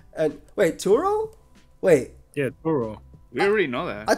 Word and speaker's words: Turo: I thought it was We Churro. already knew that. I thought we saw. No. No. That was the close character. She pronounced it like churro though, Oh, okay. I got. but it's Turo Okay, yeah.